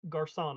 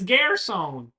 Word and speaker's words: Garrison: Sorry, Garcon, I didn't catch your name. Oh, well, you just said it, but you mispronounced it. It's Garrison.